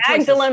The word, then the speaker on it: Magdalen: no that's okay well we have some chocolate magdalene mauled alone whatever college and i can't remember